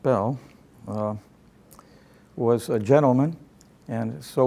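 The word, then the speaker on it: Beall: a charlatan by reputation bail that's pronounced bail was a gentleman and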